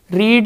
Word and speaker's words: read: on the newspaper is read read read pronunciation will be like that but spellings are same r e a d r e id but it should be read like this read read and read so the newspaper is